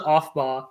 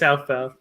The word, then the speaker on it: Aufbau: My chemistry teacher in high school always called it Aufbau principle, or no, off. What'd you call it? She called it Aufbau or something, but it's Aufbau.